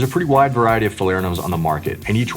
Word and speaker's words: Falernum: The next liqueur we think should be a staple behind your bar is Falernum, and that's how you pronounce it. Falernum.